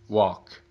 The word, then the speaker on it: walk: wall, small, mall, chalk, walk, talk. Você pode perceber que as 3 últimas palavras, o L é silent, ou seja, é mudo, não é pronunciado.